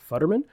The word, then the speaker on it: Futterman: Today on the show, we have Futterman. Did I pronounce that correct?